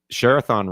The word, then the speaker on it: Share-A-Thon: It's Share-A-Thon rhymes with marathon.